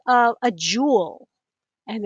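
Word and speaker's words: joule: that it's j and it's a jewel it sounds just like a jewel like a diamond or something it's not spelled the same way but worry about that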